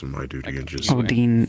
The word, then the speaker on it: Odine: Odine, Odine, O-O-D-I-N-E, yeah.